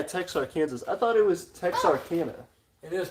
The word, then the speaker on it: Texarkana: I thought it was Texarkana. It is Texarkana. Yeah. So many Washingtonia different says, pronunciations.